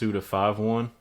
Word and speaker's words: Suda51: It's actually pronounced Suda51.